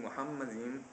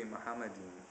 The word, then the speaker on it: Muhammad: much smaller difference between Muhammad that's not even the correct pronunciation I'm getting influenced by you guys it's supposed to be muhamad the M sound is is not elongated and there's no o in the first syllable um in any case